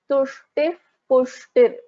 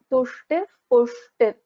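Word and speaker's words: तुष्टिः पुष्टिर्: So it is actually a Visarga followed by Pa, right? So we pronounce this as Tushtif Pushtir.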